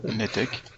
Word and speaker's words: Netec: Webinaire Netec ou Ntec, je sais jamais comment on prononce. Netec.